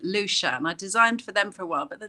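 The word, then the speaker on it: Lecien: The company, the Japanese company called Lacian, who actually they pronounce it Lushan.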